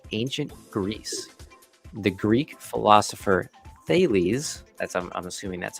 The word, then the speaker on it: Thales: The Greek philosopher Thales, I'm assuming that's how you pronounce it, is credited with using the first known option to reserve olive presses in anticipation of a large harvest.